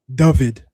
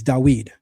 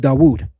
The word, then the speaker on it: David: Uh we're not saying David, it's dawed. I'll even accept dawood. So we're pronouncing that six letter as a W. European Jews are pronouncing it as a V.